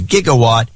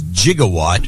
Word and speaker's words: gigawatt: that was actually fun he attempted to correct the show's host pronunciation of gigawatt as jigawatt oh okay host responded